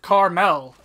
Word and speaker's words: caramel: it should be no the dictionary is right it pronounced it Carmel you hear that people